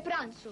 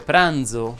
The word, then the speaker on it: pranzo: sonora prima però vuole pranzo greco ahi ahi ahi signora longari si dice pranzo con la z sonora in effetti ho fatto